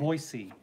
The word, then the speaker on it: Boise: It's Boise. Adair knows. That's right, Adair. Oh, hi, Adair. A Boise. Boise. Yeah, thank you. This is fun. Home of, are they the Broncos? I don't know. Okay. The Boise, I don't know if they're the Broncos or